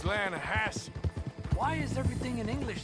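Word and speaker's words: Lannahechee: Yeah, but it's pronounced Lanahassee.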